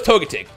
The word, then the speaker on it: Togetic: joke is we're playing pokemon go and someone's mispronounced togetic togetic and I kept saying to jelly for longest and I told myself I must